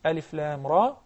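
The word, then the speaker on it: الر: Surah Al-Baqarah, Alif Lam Mim, Surah Yunus, Alif Lam Ra. So if we were to pronounce it properly, we would say Alif Lam Ra.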